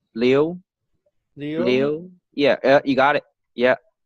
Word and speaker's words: Liu: It's not Louis, like it's Leo. Is that Leo? You know how to pronounce Leo? So it's Leo. Leo? Leo.